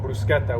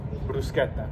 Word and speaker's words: bruschetta: of tomatoes, and because like this thing called bruschetta, which is very common, which is just like